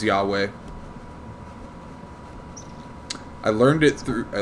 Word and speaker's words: Yahweh: i being made yeah that's the hebrew pronunciation for god that's the that's hebrew god's name is yahweh i learned it through